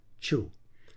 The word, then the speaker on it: chu: Chu. Some people spell it cu or chu, but the sound is the same.